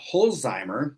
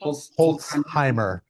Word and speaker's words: Holtzheimer: We are here today with Holzheimer. Did I pronounce that correctly? Holtzheimer. Holtzheimer. But you got the part right.